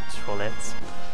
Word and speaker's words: Toilette: You add like a TE at the end, and it's called toilette.